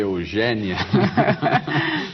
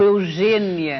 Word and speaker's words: Eugénia: Você deve ter percebido que eu fiz um esforço aqui para dizer Eugênia e não Eugênia. E não Eugênia. O seu nome se escreve com acento agudo. Agudo. Todas as pessoas em Portugal eugénias escrevem com acento agudo. Essa história do acento circunflexo não existe no meu nome em Portugal, não é?